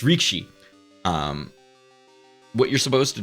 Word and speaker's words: rikishi: as as a um Rikishi or rikish God I can't even say it properly Rikishi got their name the wrestler got their name from sumo so it's reekshi um what you're supposed